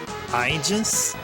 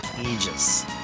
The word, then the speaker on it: Aegis: I would normally call it IIS, but I think someone corrected me and said it's actually pronounced more like Eegis.